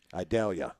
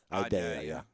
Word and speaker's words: Idalia: I can't pronounce the name of the hurricane. Idalia. Idalia? Like an onion. Vidalia? Idalia.